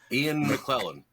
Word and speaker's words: Ian McKellen: So Ian McKellen, how do you pronounce his name? Ian McKellen.